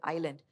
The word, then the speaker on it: island: Or the S in an island, they don't actually pronounce the S in the word island.